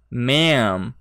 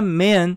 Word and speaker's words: ma'am: Ah, note que a pronúncia disso aqui, ó. Ma'am. Ma'am. Aberto. Se você falar man, significa homem, tá?